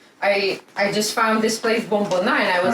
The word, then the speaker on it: Bomboná: How do you pronounce it? Yeah, Bombona.